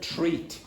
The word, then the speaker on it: treat: Do you understand the word treat? Treat. A treat. Like a treatment. No. T-R-E-A-T, not threat.